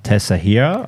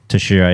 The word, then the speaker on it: Teixeira: Oh, Teixeira. Tashira, yeah. What did I say? Tesahira. yeah. I always read it like that, even though I know how it's said.